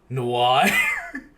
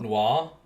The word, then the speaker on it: noir: I learned that apparently I say noir the wrong way. Noir. Noir. Noah. It's not Noir. Noir. No, it's not. It's French.